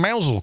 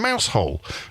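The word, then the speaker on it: Mousehole: congratulating myself then for pronouncing mousel correctly cuz not everybody would have done some people would have said you were in mouse hole but anyway never mind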